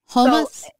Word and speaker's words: hummus: And how do you say it? Hummus? So as Arabs, you say hummus.